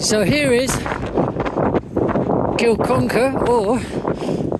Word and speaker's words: Kilconquhar: Right, so here is Kilconquhar or Conacher.